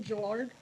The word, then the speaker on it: Gelard: Uh my name is Gelard and uh it's a soft G.